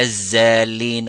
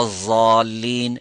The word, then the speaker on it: الضالين: ولا الزالين ولا الضالين ولا الضالين ولا الدالين. So they're all wrong. Or making lam, walallalin. So these are wrong, so to be careful. Make that sound pronounced from the edges and the sides of the tongue.